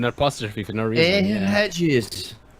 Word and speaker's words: Aegis: It's Aegis, Idris, Ikilla.